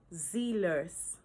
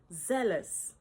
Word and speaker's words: zealous: Do you say zeal-ous? Mhm. It is correctly pronounced as zealous.